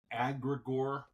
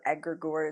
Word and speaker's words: egregore: E-G-R-E. G-R-E. And then like gore, G-O-R-E. Egregore.